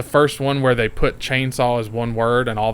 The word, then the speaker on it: Chain Saw: information at the beginning they even say it like it's two words yeah make sure he's like The Texas Chain Saw Massacre like instead of saying chainsaw yeah yeah there's a